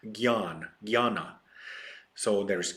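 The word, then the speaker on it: Jnana: is Gan yoga JN n a it is pronounced it's not Jana it's Gan Gana so there is Gana yoga for this purpose uh I mean those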